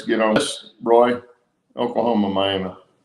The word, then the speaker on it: Miami: on this roy oklahoma miami not miami miami miami that's how they say it up there yeah anyway yeah thanks